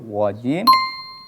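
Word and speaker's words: الرَّجِيمِ: Kalau misalkan saya baca minasyaitonir rajim dengan minasyaitonir rajim, berarti ada perbedaan antara pengucapan ro tebal yang getarannya lebih sedikit. Jikalau dibaca nir rajim dengan tipis berarti getarannya lebih banyak.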